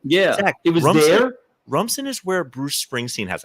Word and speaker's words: Rumson: First off, yes, it's 5 minutes from me, and it's pronounced Rumson.